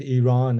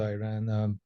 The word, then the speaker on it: Iran: Well, we pronounce it Iran. It's not Iran. It's Iran.